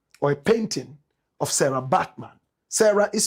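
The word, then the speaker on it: Bartman: Find me a photograph of or a painting of Sarah Batman. Sarah is spelled S A R A.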